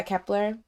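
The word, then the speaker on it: Kep1er: I also is Kepler. Is that how you say it? Yeah, Kepler.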